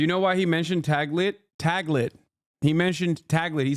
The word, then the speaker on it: Taglit: It's Tagli, is it? I don't know how to say it. Taglit? Taglit, sorry. I mispronounced it.